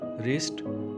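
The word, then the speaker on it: wrist: रिब्स पसलियाँ, रिब्स पसलियाँ, रिस्ट कलाई। Friends, इसमें डब्ल्यू जो साइलेंट है।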